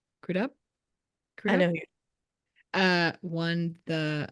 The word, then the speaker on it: Crudup: crup how do you say his last name crudup I know uh won the um won the